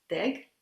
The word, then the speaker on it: Deeg: am very honored that the professor deg is that right pronounced your name yeah yeah a professor in